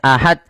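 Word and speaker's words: أحد: Kemudian pada lafal terakhir harus memantul karena di sini ada bacaan qalqalah. Ada kesalahan yang terjadi yaitu membacanya dengan tidak memantul. Misalnya ahad. Qul huwallahu ahad. Nah, ini salah. Harusnya dipantulkan ahad.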